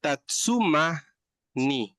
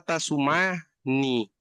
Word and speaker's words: tatsumani: bien importante decir, porque está tatsuma ni, ¿sí? Pero también está tasuma ni. Entonces, si usted no pronuncia bien suma y dice suma, se está refiriendo a otra cosa. El primero es coser. El segundo es pelear a golpes, golpear, pegarle a la gente. Entonces, tatsumani, persona que se dedica a coser, o sea, un costurero, una costurera, un sastre, mientras que tasumani es un